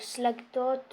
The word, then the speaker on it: Slagtoth: c'est les huiles de slagotte enfin moi je dis slagot après il y en a qui disent slagtot parce que ça s'écrit slagot pas besoin de tout